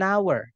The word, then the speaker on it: hour: Contohnya contohnya lagi 1 jam, an hour.